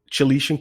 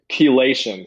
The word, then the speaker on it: chelation: so you settle edta chalesian khaleesian is that which which is the pronunciation um chelation so it's called you're correct so